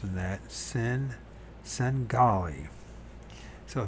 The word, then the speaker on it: Svengali: Svengali. Singali. Do Mariers Singali. Svengali. So the V is not pronounced in that. Sengali.